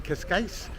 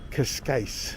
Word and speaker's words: Cascais: Hey everybody, this is Eric Clark's Travel Videos, and I'm in Cascais, Portugal.